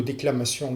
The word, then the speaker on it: déclamation: Le mot déclamation lui-même, eh bien, tous les mots qui se terminent par sion se prononcent, le sion se prononce en 2 syllabes.